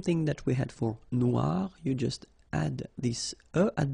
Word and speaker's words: noir: for the feminine form but then you don't pronounce it okay so phonetically it is exactly the same Noir Noir Okay g don't pronounce the